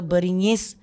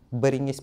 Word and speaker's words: Beringgis: Beringgis kah Beringgis? Habis ada 2 G gitu. Dah toh lah, selalunya orang sebut Beringgis. Beringgis. Jarang orang bilang Beringgis. Tapi kalau yang proper bahasa Melayu kali Beringgis lah.